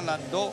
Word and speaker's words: landó: Y solo cierra el landó porque este, lo hemos explicado en otras ocasiones, viene de una población alemana que se llama Landó. Landau. Landau. Efectivamente. Pero se pronuncia landó.